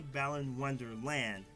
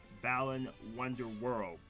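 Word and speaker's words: Balan Wonderworld: to say it correctly because I always say Balan Wonderland, Balan Wonder World.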